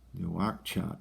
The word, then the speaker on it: Nouakchott: And the capital is Nouakchott.